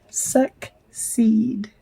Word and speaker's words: succeed: me the last word suck seed so two syllables first syllable is suck and seed and this is a soft c s SE exclamation point